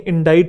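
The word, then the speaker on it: indict: दोनों की pronunciation same है, ये पढ़ने में इंडिक्ट लगता है, इंडिक्ट है नहीं, इंडाइट है, ये भी इंडाइट और इंडाइट।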